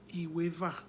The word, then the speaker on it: Iweva: And that 12 is spelled, Iweva is spelled as I-W-E. The E has no diacritic, V-A. Iweva.